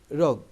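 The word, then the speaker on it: rogue: Your রোগ, উচ্চারণটা হচ্ছে রোগ, অর্থাৎ ইউর রোগ আউট অ্যান্ড আউট।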